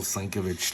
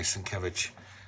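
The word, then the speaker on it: Sienkiewicz: It's almost like a Bill Slinkovich type stuff. Sorry, Sankovich. I still say his name wrong after all these years.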